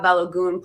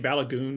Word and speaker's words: Balogun: Just yeah, the American and the English pronunciation of his last name is Balogun, and that's all what I've always heard. But I think the Nigerian, she's actually pronouncing it the Nigerian way.